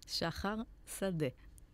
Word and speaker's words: Shahar Sadeh: Shahar Sadeh.